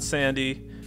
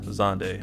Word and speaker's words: Xande: let's get started zonday character event it's not sandy it's not zandy it's not zand it is officially pronounced zande i learned this the hard way and now